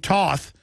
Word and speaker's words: Toth: And then we're going to have Representative Steve Toth, or Toth as he pronounces it, on, who I just saw on, and that is somebody who needs to be in Congress.